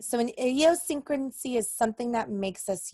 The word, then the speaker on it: idiosyncrasy: is Dean Oh secrecy there's six syllables idiosyncrasy seven syllables the secrecy so idiosyncrasy